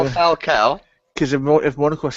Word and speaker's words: Falcao: may suggest confirmation of falco i can't say his name right now falcao because if monica was